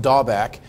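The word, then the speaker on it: דבק: It's pronounced dabak.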